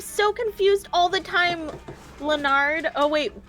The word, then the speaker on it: Leonard: Leonard. Oh wait. how do you say His name is Leonard.